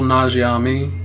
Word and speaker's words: Nanjiani: It's got Kumail Nanjiani. I don't know how to pronounce his name correctly.